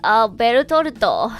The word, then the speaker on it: Bertolt: Berutorto.